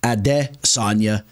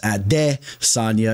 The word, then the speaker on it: Adesanya: follow the lead there everyone's referring to him now as ad Sonia instead of Israel out of Sona I guess that's the actual pronunciation but this fight is